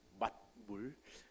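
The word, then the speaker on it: 맏물: 그래서 처음 수확한 만물, 이 발음이 조금 어려워서 여러분들이 설교를 들으시면서 제가 만물 그러면은 이게 만 가지 물의 만물이 아니고 맛물, 첫 번째 수확물이라는 것을 염두에 두시고 걸러서 잘 들으시기를 바랍니다.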